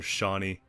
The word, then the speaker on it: Shani: it would like reset a Shani or something like that. Or Shani. Yeah, there we go. I said it right.